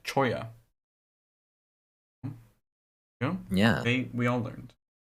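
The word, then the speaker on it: cholla: We're just getting to we just got to your your question basically pronounced choya.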